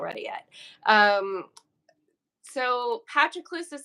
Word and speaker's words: Patroclus: Patroclus. I just say it. Patroclus?